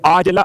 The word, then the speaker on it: عاجلہ: معجل عین کے ساتھ، تو یہ عاجلہ عین سے ہے. ہو سکتا ہے میرے تلفظ میں آپ کو واضح نہ ہوا ہو، اس لیے میں نے کھول دیا.